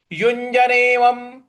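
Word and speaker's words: युञ्जन्नेवं: है शुरू करते हैं युजनेवम युजनेवम देखिए यहां पर युज उसके बाद ञ है तो य युज यज ऐसे बोलेंगे युजनेवम यजनेवम और व के ऊपर जो अनुस्वार है उसका म उच्चारण लाएंगे तो यजनेवम सदा सदा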